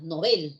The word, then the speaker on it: Nobel: su lengua de origen el sueco es una palabra aguda nobel ya perfecto y así